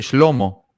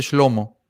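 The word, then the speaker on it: שלמה: Que es Salomón en hebreo se escribe así, Shlomo, se dice Shlomo.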